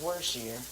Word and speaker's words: Worcestershire: Okay, Worcestershire. Worcestershire. Brandy said it's pronounced Worcestershire.